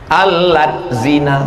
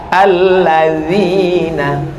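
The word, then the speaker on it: الذين: asin ini a-nya dua alat zina loh kok Ma jadi alat zina D sama Z itu bacanya dza dza alladzina dalam bahasa Arab ada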